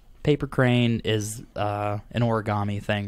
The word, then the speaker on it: origami: crane is uh an origami thing right yeah so origami actually is like two words put together so it's Ori meaning folding and Kami meaning paper but Kami changes to gami due to rendaku which is some kind